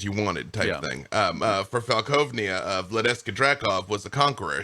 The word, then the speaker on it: Falkovnia: Cue the zombies, Also, I believe it's pronounced Falkovnia.